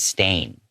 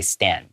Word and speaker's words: stain: And I want to call attention to that word stain. Okay? A lot of my students might say stan.